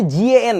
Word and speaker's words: GaN: ইজ গ্যাং charger বলে এটা খুব ভালোবা এই গ্যাং না উচ্চারণটা actually জি এন gallium nitride আমি তোমাদেরকে একটা মজার জিনিস দেখাই